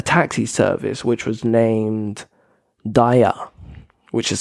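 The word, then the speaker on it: Daiya: I said a taxi service which was named Dia which is spelled D AI ya um like I said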